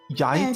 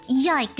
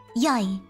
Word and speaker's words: Jag: And then it's Danish is Jag talar dansk. Yeah. Also, you say yike, not jag. Yike. Jag. Soft J. Soft G. Soft G. Oh, Jag. Yai.